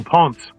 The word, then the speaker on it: ponce: Yeah, no, ponce. Like Ponce. you're saying Is that pounce, what you but it's like you're saying pounce, but you're saying ponce.